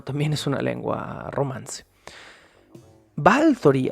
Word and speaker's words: Báthory: tema romantizar o romanizacion batori Aunque romantizarlo o romanizar sería un poquito absurdo decirlo porque el Romano también es una lengua romance balori al parecer es la pronunciación correcta y Y entonces estamos